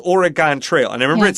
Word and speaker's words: Oregon: Uh Oregon? You sound like a native. And how do you say it? The way we mostly say it in the Midwest is Oregon.